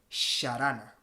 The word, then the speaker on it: jarana: siglo 16 siglo 1v esa palabra se escribiría con una x y no sería harana ni se hubiese pronunciado harana se habría pronunciado sharana lo cual no se